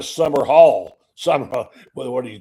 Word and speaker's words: Sumrall: The worst thing you can do is call your new coach Summerall like Pat. It's not spelled the same. Nowhere near Pat Summerall is not the same as John Summerall. It's just so you know, if you're writing it down, they call it now Summer Hall.